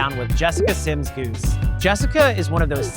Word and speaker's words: Sims-Gousse: Hi, my name is Jessica Sims-Gousse. No, it is not spelled the way you think it is, and you do not pronounce it the way it is spelled.